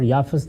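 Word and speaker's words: یافث: ہے اور ایک یافت۔ یافت اور یافس دونوں تلفظ ہیں، اسی طرح سم اور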